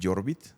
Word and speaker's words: Jorbiet: La primera es el hermano menor, se llama Jorbit, se escribe Jorbiet.